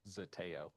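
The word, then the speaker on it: Zeteo: He is currently a reporter for an online site which I read, but I don't know the pronunciation of it. Zateo.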